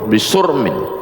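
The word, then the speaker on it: بصرم: Wa qauluhu bisurmin artinya bidhammis sad, sadnya dibaca sur, artinya binqita'iha wa fanaiha, dunia ini putus, hancur, binasa.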